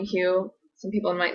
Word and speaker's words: Hugh: But I thought Haven won for pronunciation just because silent G going on in the name Hugh.